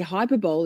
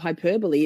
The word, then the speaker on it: hyperbole: Every The number of times I say hyperbol instead of hyperbole is not even funny.